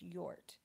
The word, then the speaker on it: Jort: Real name is Jort, by the way, pronounced Yort. Long story. Like a yort, like a yurt, like the tents, like the yurts. So Yort. Got it.